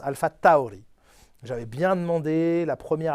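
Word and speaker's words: AlphaTauri: fois les gens disent pourquoi tu dis alpha Taouri bah parce que c'est comme ça que ça se prononce on dit pas alpha Tori ça ne se prononce pas alpha Tori ça se prononce alpha Taouri j'avais bien demandé la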